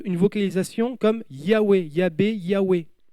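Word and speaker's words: Yahweh: vocalisation comme Huawei yabe Yahwe le vase produit un son W et pas V c'est Goa et d'ailleurs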